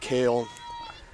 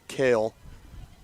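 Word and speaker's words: Kehl: grandparent watching at home it's pronounced kale and when it's pronounced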